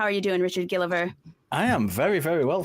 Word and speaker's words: Gilliver: Is it Gilliver or Gilliver? It's Gilliver. It is Gilliver.